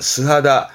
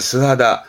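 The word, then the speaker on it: 素肌: 피부는 하다를 해서 그래서 발음은 스하다. 그러면 맨살. 그렇죠? 맨살을 스하다, 스하다처럼 씁니다.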